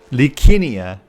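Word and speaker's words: Licinia: Likinia. They pronounce all those CIs like Ks.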